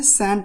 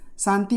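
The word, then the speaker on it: shan't: Cell not का क्या होता है, सैंट होता है, सैंट। शांति मत कहिएगा और साइलेंट भी मत कहिएगा क्योंकि ये भी गलत होता है, इसको अवॉइड कीजिएगा।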